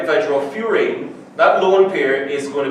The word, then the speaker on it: furan: This compound is called furane. It's spelled furan, but it's pronounced furane.